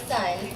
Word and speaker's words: Sun: My name is Sun. Yes, it is pronounced sun, like the one in the sky.